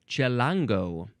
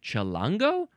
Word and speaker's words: chilango: It is chilango.